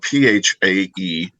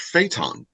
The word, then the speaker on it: Phaeton: And it's spelled Phaeton. And he says, you mispronounced phaeton. I'm like, no, I didn't. He said, it's phaeton.